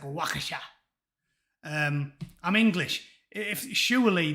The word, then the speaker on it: Waukesha: people who died at wakeesha how would you pronounce it sadlings wakeesha apparently it's not wakeesha it's some i guess because it's near america it's like wakasha um i'm english if surely the english can